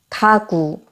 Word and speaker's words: 가구: 가구. 카구로 들리시더라도 가구로 차라리 말씀하시는 게 더 낫습니다.